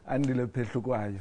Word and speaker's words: Andile Phehlukwayo: Andile Phehlukwayo.